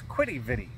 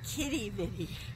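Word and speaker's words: Quidi Vidi: Well, that was Quiddy Viddy, or Kitty Viddy? Kitty Viddy. With a K instead of a Q, even though it's spelled with a Q.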